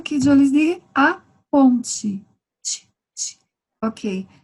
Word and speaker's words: ponte: A ponte. Ok. Palavras com T em português, quando finalizamos com TE, pronunciamos como se fuera TI.